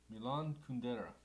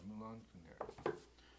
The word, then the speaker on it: Milan Kundera: I want to make sure I say his name right. Milan Kundera. I say it with an accent. Oh, that's right there. Yeah, Milan Kundera.